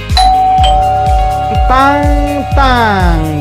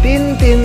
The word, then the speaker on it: Tintin: pertama udah tahu belum Ini nih tang tang dibacanya bukan Tintin tapi tang tang karena Im berbunyi tebak dong ini komik